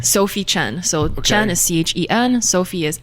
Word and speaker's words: Chen: So Chen is Chen. Sophie is Sophie, not Fie. Okay. As I've realized some people spell it that way for some reason.